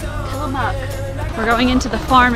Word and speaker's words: Tillamook: Tillamook. We're going into the farm experience right now. BJ's hoping to milk a cow. Where are we? My head. Jessica's eyes just opened. I think the Tillamook Cheese Factory killed BJ.